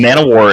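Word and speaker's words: Emmanwori: Nick, is it Emmanuel? Is that how you pronounce it? Emmanuel, yes.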